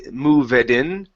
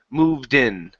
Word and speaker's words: moved: this one here okay instead of mov moveen okay take out this e moved in moved in good good since long